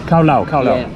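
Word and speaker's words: cao lầu: special is summation how do you say this cao lau the names allodial Carlo Carlo yes with Oh with Japanese Chinese and French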